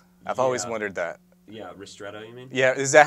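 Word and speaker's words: ristretto: so can you tell me the difference between Rosetto and an espresso shot I've always wondered that yeah RTO you mean yeah is that how you say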